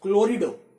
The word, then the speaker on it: chlorido: We have chloride over here, and chloride, which is pronounced as chlorido when it comes to inorganic coordination chemistry, is a weak field ligand.